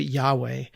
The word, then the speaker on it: Yahweh: Uh, the the word that God gives Moses is is four letters long and we pronounce it Yahweh.